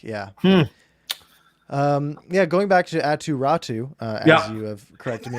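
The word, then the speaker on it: Räty: Right, but I know the last name rhymes with the first name, so it's weird.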